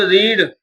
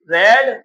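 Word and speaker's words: read: रीड रेड रेड। यानी रीड की third form spelling तीनों सेम ही होती है। रीड रेड रेड। ओके? चलिए तो इसको क्या कहेंगे? रेड कहेंगे। रीड नहीं कहेंगे।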